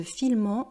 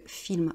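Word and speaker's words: filment: Il se filme, alors vous voyez ici c'est le pluriel et donc il y a ENT mais on ne dit pas il se filmant, on dit il se filme.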